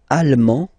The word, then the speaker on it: allemand: L'Allemagne, allemand, allemande. Okay, same thing here. Okay, you don't pronounce the final D, but then you pronounce it here for the feminine form.